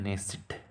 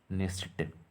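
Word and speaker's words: Knesset: Israel को यहाँ बोलते हैं नेसिट, नेसिट के यहाँ पर साइलेंट होगा, नेसिट। ठीक है, नेसिट।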